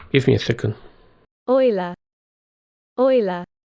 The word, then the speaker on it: Euler: I want to pronounce this correctly. Give me a second. Euler. Euler's number.